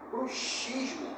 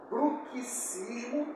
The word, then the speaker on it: bruxismo: Relembrando, bruxismo tem a ver com dentes e bruxismo com bruxas. A escrita destas duas palavras é a mesma, mas a pronúncia é diferente.